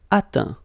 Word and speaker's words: atteint: Atteindre, atteint. Éteindre, éteint. Feindre, feint. Peindre, peint. Teindre, teint. Okay, as usual, final T not pronounced. Atteint, éteint.